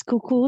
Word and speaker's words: Cuckoo: we have guest Toastmaster cuckoo if I'm pronouncing it correctly please introduce yourself right good oh great you got it right it's cuckoo like the clock I'm also from the